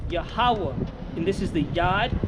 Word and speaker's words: Yahweh: So it reads Yah, Ha, and this is Wa, and then Ha. But the connector means the A sounding between these two is silent. So is Yahweh, and this is the